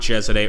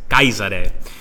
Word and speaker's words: Caesar: come on Cesare actually there's a proper Latin way of saying a Caesar and it's not chess at a or Caesar now I've look at that 11746 we're crushing them the actual correct way to say Caesar in Latin it sounds more Germanic but it's guys at a guy's at a with the end with the e at the end and I've actually gotten